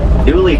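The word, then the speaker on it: gnu: They have another name, spelled GU, pronounced new.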